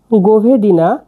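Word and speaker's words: govedina: মাংসকে সারবিনে বলা হয় গভেদিনা গভেদিনা মানে গরুর মাংস গভেদিনা বাক্য ভেঙ্গে দিচ্ছি এটা হচ্ছে জি এটা ও এটা ভি এটা ই ডি আই এন এ কি হল গোভেদিনা গোভেদিনা গোভেদিনা মানে গরুর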